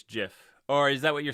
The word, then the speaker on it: GIF: no no drubril you're you're pronouncing it wrong it's not gif uh it's jif or is that what